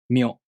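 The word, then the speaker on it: みょ: To pronounce Myo, the tongue moves from the Mi consonant to the O vowel. Myo.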